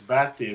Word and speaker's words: Bates: Is it Bates or Bate? You Tell me again. pronounce it right. Foolish you. You pronounce it right. It's Bati, but in the Bate.